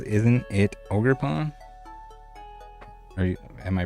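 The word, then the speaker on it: Ogerpon: luki says isn't it ogre Pon are you am I pronouncing it wrong it's like ogre ogre pwn like he's an ogre oo I think that's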